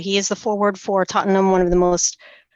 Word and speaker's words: Tottenham: play for tottingham to Tottenham is how it's well that's how I I was told to pronounce it Tottenham sorry UK people yeah totam and yeah and he